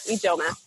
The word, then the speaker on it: Ijeoma: Ijeoma, I said it right, correct? Yeah, Ijeoma, Nigerian.